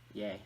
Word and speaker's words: Ye: album titled ye gay yay that's how it's pronounced da ye or I